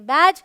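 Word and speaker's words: badge: है dark dress drink rule number two कहता है अगर डी के बाद जी आए तो डी साइलेंट होता है ऑलराइट तो आप ज्यादातर देखेंगे ये डीज ई ऐसे साथ में होता है यहां पर डी साइलेंट है इसे पढ़ेंगे बैज इसे पढ़ेंगे एज ऐसे बहुत सारे वर्ड्स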